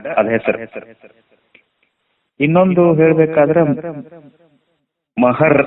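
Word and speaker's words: महार: ಅದರ ಹೆಸರು ಇನ್ನೊಂದು ಹೇಳಬೇಕಾದರೆ ಮಹರ್ ಅಂತಾರೆ Mahar M ಎಚ್ ಎ ಆರ್ ಹಂಗೆ ಬೆಂಗಳೂರಿಗೆ ಬಂದು ಇಂಗ್ಲಿಷನ್ನ ಉಚ್ಚಾರ ಮಾಡಿ ಗ್ರಂಥಗಳನ್ನು ಬರೆದುಬಿಟ್ರು ಆದರೆ ಅದು ಈ ಕಡೆ ಮಹಾರಾಷ್ಟ್ರದೊಳಗೆ ಮರಾಠಿ ಒಳಗ ಮಹರ್ ಅಲ್ಲ ಮಹಾರ ಮಹಾರ ಅಂದ್ರೆ ಇಂಗ್ಲಿಷ್ನಿಂದ ಅನುವಾದ ಮಾಡುವುದು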